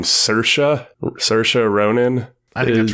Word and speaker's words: Saoirse Ronan: They have Laurie Metcalf as the main character's mother, and I believe you pronounce her name Saoirse Ronan.